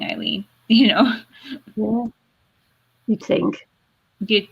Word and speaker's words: Ilene: at my name and go elaine it's like it's not it's spelled i l e and e it's an i like it could be easier than the e wave spelling eileen you know you think